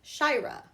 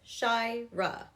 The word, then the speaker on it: Shaira: My name is Shaira. It has two parts. Shaira.